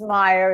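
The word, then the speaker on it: Meijer: Uh, this has to do with a a supermarket chain called Meyer. It is spelled M E. Oh boy. M E J E R pronounced Meyer.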